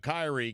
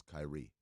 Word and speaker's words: Kyrie: I'm very interested in the way you pronounce Kyrie what you put the emphasis on the Chi I did as opposed to the ree you go Kyrie yeah as opposed to Kyrie which is I don't